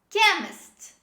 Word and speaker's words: chemist: previous words this is chemist chemist while pronouncing this word we drop the h sound and we always say c at the beginning chemist chemist another example